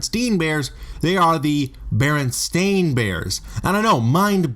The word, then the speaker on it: Berenstain: shocked to learn that he' been spelling and pronouncing their name wrong for decades the actual correct title of the series is Baron stain bears with an a when many fans myself